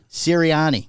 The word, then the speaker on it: Sirianni: Sirianni.